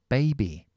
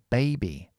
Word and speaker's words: baby: e y i o Entonces esta a se tiene que pronunciar como en el vinario que es así Baby Baby est también aquí est